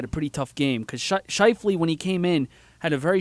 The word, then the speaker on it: Scheifele: Scheifele.